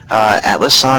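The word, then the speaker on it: Atlassian: is Atlas Sun Corp I believe it's pronounced Atlas on is emerging growth socket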